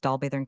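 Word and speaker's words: Dolbadarn: We here dismissed our Cambrian mountaineer, and easily found our way to Dalbet, pronounced Dalburn Castle, situated between the two lakes and now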